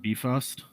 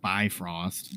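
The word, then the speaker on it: Bifröst: lights up top uh we do have um a pretty mythologically accurate beefost which is the rainbow bridge or if you're a marvel fan you have the mispronunciation of bifrost that they use in literally every outlet this is the rainbow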